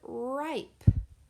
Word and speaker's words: ripe: And the I is saying its name because of that long vowel, silent E pattern.